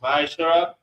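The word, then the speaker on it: ma'aser: Malachi chapter 3 verse 8 to 10 means 10 in Hebrew which is pronounced masher 10% of every penny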